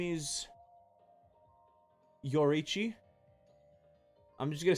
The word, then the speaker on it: Yoruichi: Actually, her name is Yoriichi. I'm just gonna say it wrong because you've now corrected me, Levi. I'm just gonna say I know it's Yoruichi.